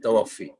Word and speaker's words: توفی: کے کورس کراتے ہیں، اس لفظ کا صحیح تلفظ یہی ہے، توفی۔ بس یہ بنیادی بات